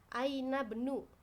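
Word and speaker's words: أين ابن: laki-lakinya mudir itu ya Aina Benu ya bacanya Karena ini sebagai hamzatul washol ya oke badaha Hai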